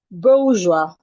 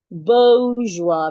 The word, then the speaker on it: bourgeois: You have it in bo. It has a shua. Excuse me. It has a diphthong sound. Oa. It has the oa. Boa. Then you have the joie. Bourgeois. Bourgeois. You're stressing the first syllable.